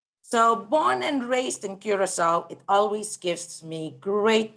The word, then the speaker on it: Curaçao: or a diacritical mark it denotes that the c needs to be pronounced like an s so it's not kurako urachoa or anything in